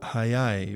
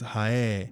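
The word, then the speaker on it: 速い: japanese is high and fast is hayai which can be pronounced casually as haye so haidakini tenakspiroga there's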